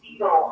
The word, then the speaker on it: cetyl: Fetal alcohol, and I don't want to get too science, right, guys, but fetal is spelled CETYL, and then alcohol, or cereal alcohol.